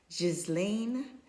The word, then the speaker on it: Ghislaine: But if that's the case, should his girlfriend, I believe his girlfriend, I think her first name is pronounced, it's like French, like Jizzlane Maxwell is in prison, I believe, in the United States.